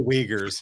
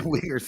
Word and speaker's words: Uyghurs: The Uyghurs. Yeah, The Uyghurs. Yeah, I'm sorry, mispronunciation. no, yeah. It depends on how you see that U sound with the two dots over it. Both okay.